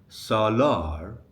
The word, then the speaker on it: Salar: So, if your friend's name is Salar, the stress falls on the last syllable, lar, Salar. But when you are calling him, you don't say Salar.